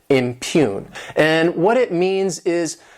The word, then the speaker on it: impugn: This word has 2 syllables, and the stress is on that second syllable, impugn.